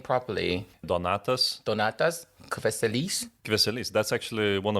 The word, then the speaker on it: Donatas: How to I pronounce your name properly? Donatas.